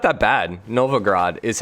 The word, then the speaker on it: Novgorod: Novgorod is how I'm saying it with an A. Novgorod.